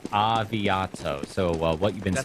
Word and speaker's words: Aviato: us see ya saya I'm gonna call it saya saying it's actually pronounced avi Otto so what you've been